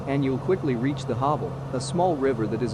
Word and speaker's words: Havel: The Havel, or what Germans pronounce Havel, is a river in northeastern Germany that flows through the states of Mecklenburg-Vorpommern, Brandenburg, Berlin, and Saxony-Anhalt.